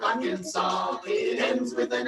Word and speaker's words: Arkansas: Utah, Columbia, South Carolina, the S is silent in Des Moines, Iowa, and also in Little Rock, Arkansas.